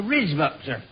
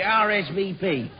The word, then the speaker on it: RSVP: this RZ up Sir the what the risb well you pronounce it RSVP oh yes oh just